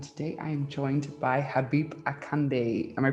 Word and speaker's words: Habeeb Akande: deeper podcast and today i am joined by habib akande am i pronouncing your name correctly pronounce it perfectly okay